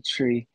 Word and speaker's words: Tree: is an album called tree why is it called tree it's my third studio album and US Jamaicans pronounced three tree you know what I